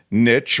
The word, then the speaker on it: niche: how supposed to pronounce Niche or Niche there are two common pronunciation variants both of which are currently considered correct Niche rhymes with shees